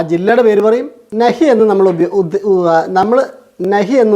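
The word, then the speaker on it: नहीं: കൊണ്ടാണ് ഉച്ചരിക്കേണ്ടത് ന അല്ല ന കഴിഞ്ഞു വരുന്ന ഹി ഉണ്ടല്ലോ അത് മൂക്ക് കൊണ്ടാണ് ഉച്ചരിക്കുന്നത് അത് മൂക്ക് കൊണ്ട് നമ്മൾ ഉച്ചരിക്കാൻ ശ്രമിക്കുമ്പോൾ നൈ എന്നേ വരുള്ളൂ നൈ വായ് കൊണ്ടല്ല ഹി പറയേണ്ടത് മൂക്ക് കൊണ്ടാണ് പറയേണ്ടത് അപ്പൊ അതിന് ശരിയായ ഉച്ചാരണം കിട്ടും നൈ നൈ എന്ന് പറഞ്ഞാൽ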